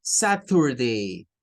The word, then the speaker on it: Saturday: Bueno, pues el día sábado en inglés, los norteamericanos no lo pronuncian con un sonido de una letra T.